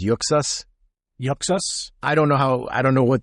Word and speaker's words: Uxas: Oh, they said Uxus being the pronunciation used by comic creator Jim Lee. So Uxus.